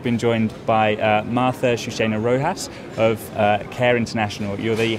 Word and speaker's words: Chouchena-Rojas: delighted to have been joined by uh martha shushina rojas of care international you're the head of global advocacy there martha i hope you've pronounced your name correctly yes you did well